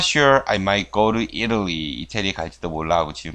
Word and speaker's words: Italy: 강세가 앞에 있어요. 강세받는 모음 다음에 T 사운드가 나오면 미국에서, 미국 영어에서 T가 유성음화 된다 그랬죠. 뭐, city, city, butter, butter 이런 식으로. 이것도 Italy가 Italy라고도 발음이 돼요.